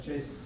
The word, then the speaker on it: JSON: It's Jason. That's JSON. Yep. JSON. JSON. Different people pronounce it differently.